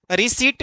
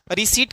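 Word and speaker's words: receipt: Next question से रिसीट में कौन सा वर्ड साइलेंट है? हम लोग हमेशा गलत उच्चारण करते हैं। रिसीप्ट कोई नहीं बोलता है। सब कोई बोलता है पेमेंट कर दिए मेरा आप रिसीप्ट को दे दीजिए। हम लोग बोलते हैं रिसीप्ट।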